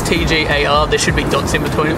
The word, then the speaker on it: TGAR: to pronounce how to pronounce my name I pronounce it tar T but it's an acronym so it's TG a r there should be dots between it it's not